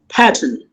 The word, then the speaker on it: pattern: In American, R is not silent, and double T is making a flip D sound, flap D sound.